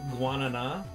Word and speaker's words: Guaraná: It's called Guaraná, although it's spelled like gara ra ra ra ra ra. It's weird.